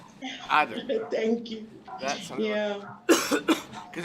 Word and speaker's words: Aden: I thought because I want to learn Arabic, so I thought I should pronounce it like Arabic people do and say Aden. Aden.